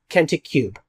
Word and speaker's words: Kentik Kube: Which is why we've developed Kentik Cube. We're just pronouncing it cube.